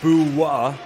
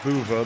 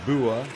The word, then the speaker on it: Buva: Pronounced Bua. I'm reliably informed by my Croatian friend. Not Buva, but Bua.